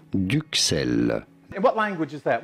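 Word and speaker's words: duxelles: french words d-u-x-e-l-l-e-s and that's supposed duck sale in france we pronounce it as duke cell and what language is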